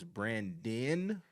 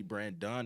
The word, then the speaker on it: Brandon: off like you know my name is Brandon most people call me brand done they would always spell